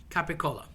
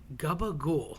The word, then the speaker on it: capicola: Another mispronounced lunch meat. Capicola. So capicola is like a spicy ham. It could be hot or sweet cap. And people tend to say gabagool. That just sounds disgusting.